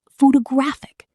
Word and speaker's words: photographic: Photography, stress on ta. Photograph, stress on faux. Photographic, stress on graph. Same letters, 3 different stress patterns, 3 different words.